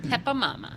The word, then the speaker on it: Peppa Mama: Peppa Mama. Her name is Pepper, spelled like the spice, but for whatever reason, I don't remember why, it's Peppa Mama.